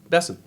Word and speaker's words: Besson: He's French, so I was wondering, is it Besson? Like croissant? Right. How do you say it? Besson. Just Besson.